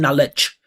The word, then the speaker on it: knowledge: You probably putting you're probably putting emphasis on NL and S, right? Knowledge knowledge. Knowledge is how most you guys say it actually. Knowledge. Knowledge. Knowledge. Knowledge. There's nothing about that that transmits anything clear to American listener.